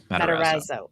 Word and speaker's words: Matarazzo: Matarazzo.